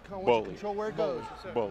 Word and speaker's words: Gbollie: He says, just take the G off.